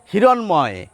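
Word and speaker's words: হিরণ্ময়: হিরণময়, মূর্ধন্য ন কিন্তু দন্ত নয়ের উচ্চারণ পাচ্ছেন আর ময়ের উচ্চারণ পাচ্ছেন।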